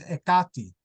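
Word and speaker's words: Εκάτη: And Clio, I don't know you well enough yet, but your daughter of Hecate, which in Greek, modern Greek is pronounced Ekati.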